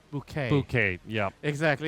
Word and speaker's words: Bucket: And there is the main character, one of the main characters, that keeps saying that the family name is spelled bucket as in Bucket, but she insists no, it's bouquet.